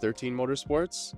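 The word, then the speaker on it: XIII Motorsports: X II Motorsports um it's pronounced 13 Motorsports uh but it is Roman numerals you can find us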